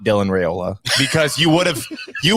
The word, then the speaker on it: Raiola: makes in there yeah no just just straight up uh Rola coaster Rola coaster it's just like your